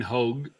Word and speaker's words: Hogue: clip today so Ryan Hogue and it's Hogue make sure I pronounce it h-o-g-e is the proper pronunciation right did a little video